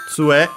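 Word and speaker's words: 杖: Tsue, which means, we check the accent. Okay, actually, tsue. So, accented on the tsu, the first syllable, tsue.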